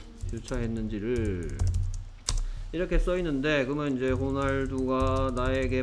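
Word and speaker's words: Ronaldo: 자 이게 좀 특이한데 이제 뭐 스페인에서 얘는 H 같은 소리를 냅니다. 그리고 이 사람 이름이 스페인 사람 이름이기 때문에 그래서 발음이 호날두가 되는 거예요.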